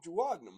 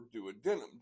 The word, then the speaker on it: duodenum: and this is the duodenum or duodenum, depending on which syllable you put the emphasis.